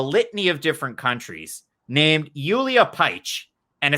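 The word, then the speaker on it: Julija Pajić: fighter representing a litany of different countries named yulia paich and it's spelled j-u-l-i-j-a-p-a-j-i-c with an accent john franklin i've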